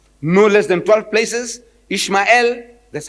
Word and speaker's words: Ishmael: I says, in the book of Genesis, the first book of your Torah, no less than 12 places, Ishmael, that's how they say it.